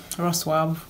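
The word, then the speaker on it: Wrocław: And then there's University of Wroclaw, or Wroclaw. It's called Wroclaw, but for English pronunciation, University of Wroclaw, the deadline is, for bachelor's degree is 15th of August.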